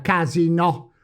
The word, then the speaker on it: casinò: Cominciamo con la parola tronca, casino, che ne ha diversi.